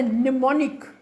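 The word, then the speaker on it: mnemonic: know about listening skills and it's called a nimonic it's it's spelled like this m n e m o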